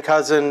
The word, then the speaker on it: Kousen: there's my contact information my name is Ken cousin it's pronounced like the relative it just doesn't look like it you know there's my